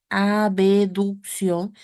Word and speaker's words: abducción: imagen está haciendo abducción por eso lo pronunciamos con la b abducción De qué parte de